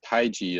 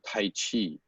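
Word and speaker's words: 太極: that the romanization of Taiji is CHI, the Wade Giles early romanization. So people pronounce it Tai Chi. And it should not be that.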